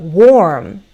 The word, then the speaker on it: warm: But warm is more of a circular sound, and my jaw goes lower.